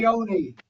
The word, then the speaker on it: Orione: Orione.